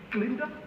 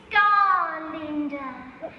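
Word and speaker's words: Galinda: Miss Glinda? It's Garlinda. With a gar.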